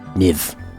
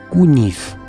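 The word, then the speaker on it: Kyiv: Niv. Like give. Kuniv. I was pronouncing it how I would pronounce it if I was in Hungary or Europe.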